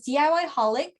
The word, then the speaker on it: DIY Holic: You can find me on TikTok as DIY Holic, on YouTube as DIY Holic as well. The way it's spelled, the way it sounds, it's the way it's spelled, DIYHOLIC.